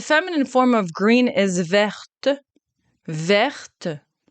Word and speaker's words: verte: Then the feminine form of green is verte, verte. So here you do pronounce the E, verte.